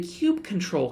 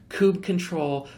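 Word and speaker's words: kubectl: the pronouncing cube control there's Kubb control there's Kubik there's a whole bunch of different pronunciations do the one that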